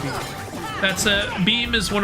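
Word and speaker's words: Bheem: Uh, is that spelled B H E E M? Uh, yes. All right. That's uh that's just pronouncing Beam.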